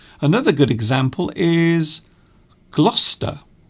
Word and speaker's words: Gloucester: good example is gloucester gloucester so gloucester is actually a different pronunciation to the actual spelling of the word we will say i am going to gloucester to visit my auntie but in fact the spelling of gloucester is not as it is pronounced there are extra